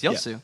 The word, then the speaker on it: Yasuo: Yu there we go you're pronouncing wrong it's yosu all right guys thank